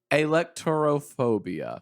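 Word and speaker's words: alektorophobia: have to please but why are you saying Electro when it could be a lecturer okay electoral phobia see that's much better here's how you spell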